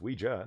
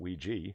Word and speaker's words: Ouija: Well, Grisella just corrected me, saying that it's Ouija, not Ouija. So Ouija is the way I'm going to pronounce it from Now on.